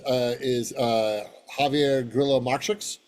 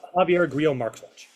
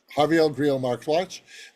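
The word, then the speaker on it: Javier Grillo-Marxuach: Next to him is Javier Grillo Marchix. Did I pronounce that correctly? No, but it's okay. You pronounced it correctly. Go ahead. Javier Grillo Marxwatch. Javier Grillo Marxwatch, and he again worked on Lost, worked on Witcher.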